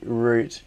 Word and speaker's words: route: yeah that's true I do say root in that context or route um uh I say route Mitchell R said a